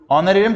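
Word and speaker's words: honorarium: लिखा है ये हां हनोनी ए साइलेंट होता है ऑनर एरियम ऑनरियम क्या होता है रिस्पेक्ट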